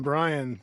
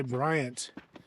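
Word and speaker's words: Bryan: Brian State Park and I said it right this time Brian I always want to say Briant there were dations across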